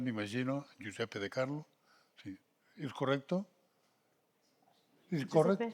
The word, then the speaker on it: Giuseppe di Carlo: Està ben pronunciat, m'imagino, Giuseppe di Carlo.